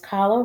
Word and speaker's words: Kahlo: It says Kahlo rhymes with follow, and this is me dressing up like Frida.